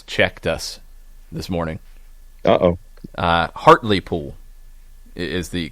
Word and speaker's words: Hartlepool: a KFC has checked us this morning Oh Hartlepool is the correct pronunciation Hartlepool and Jeff Jeff Stelling I think